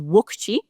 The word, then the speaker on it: wukchi: So there was this standard command, which is wukchi. You kind of say it like wukchi, wukchi, wukchi, wukchi.